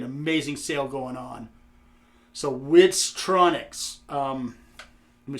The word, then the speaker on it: Witztronics: So Witztronics, let me spell that for you because I'm dumb as shit. W-I-T, Wit, Z, got the Z, Tronics. For all you that aren't hooked on phonics, it is Tronics.